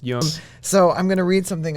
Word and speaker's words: Jung: It's initially a German name, so it would be pronounced Jung.